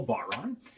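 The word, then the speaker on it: bodhrán: Um, that is apparently how you pronounce it in the Irish language.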